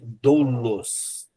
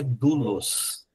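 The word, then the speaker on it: δοῦλος: Primeira palavra aqui, letrinha, só que você lê, se você ler extensivamente, você vai ler doulos. Mas na verdade você tem um ditongo no meio e tem uma regrinha lá. E depois vocês vão aprender que quando você tem um dit um esse tipo de ditongo, você essas duas letras depois do delta é tem u aí. Então é dulos, tá?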